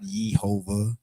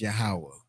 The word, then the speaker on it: Yahawah: to pronounce it differently it's not yehovah it's yahawah and that's something that